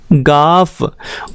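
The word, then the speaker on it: گاف: तो इसका जो प्रोनाउंसिएशन है वो होता है हमारा गाफ, और इसके लिए जो अक्षर यूज़ होता है, जो लेटर यूज़ होता है इंग्लिश का, वो होता है जी।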